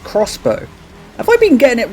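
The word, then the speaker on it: X-Bow: KTM Expo though apparently to their website it's pronounced crossbow have I been getting it wrong since 2008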